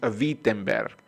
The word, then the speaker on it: Wittenberg: witten ver una aclaración aquí se escribe whitten ver pero la pronunciación es wittenberg es como volkswagen no se dice uag en si no paguen porque así es que lo pronuncian los los alemanes la doble la pronuncian como be ok déjenme retomar entonces todo